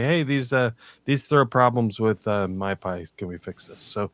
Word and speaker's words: mypy: So type checking, I've used MyPy before, or I think that's pronounced MyPy.